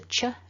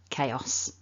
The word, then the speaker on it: chaos: takeaway tip for today it's not a cha it's a chaos so don't forget to